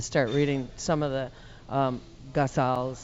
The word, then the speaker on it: ghazals: I had to start reading some of the ghazals.